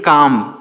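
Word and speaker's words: calm: एल एम इसे पढ़ेंगे काम क्या पढ़ेंगे दोस्तों काम सी ए एल एम यहां पर यल साइलेंट है हम इसे काम पढ़ेंगे काम का मतलब होता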